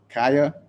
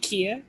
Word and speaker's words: Kaya: Is it Kaya? Are you were coming on? If you would like to say your piece. Oh yeah, no worries. I pronounce it like Kia.